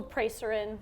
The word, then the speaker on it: Preseren: I just tell people Preshaden. So I Preshaden. try to think phonetically how it looks in English.